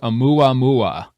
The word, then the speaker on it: Oumuamua: And I actually had to look up how to pronounce this word because I didn't know how to pronounce it at first. But it's called Amua Mua.